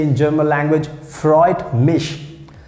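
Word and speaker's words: freut mich: you so we can say in german language freud mish freud mish we have a different ways to to say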